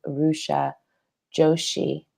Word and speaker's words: Rucha Joshi: My name's Miriam, and I'm live with Rucha Joshi today. Did I pronounce that correctly?